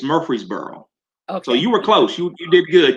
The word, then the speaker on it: Murfreesboro: so eddie please um first of all say murray's burrow in the right way and so my guest